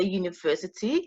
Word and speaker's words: university: When you say university, you hear the sound Y, the Y sound, and we know that the Y sound is a consonant.